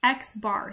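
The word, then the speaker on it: x̄: the mean of a sample is this it's x-bar so it's an English letter X with a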